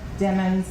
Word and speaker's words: Demons: you Holland capitalists and remember demons like rhymes with lemons I know my okay going on to October 26 2018.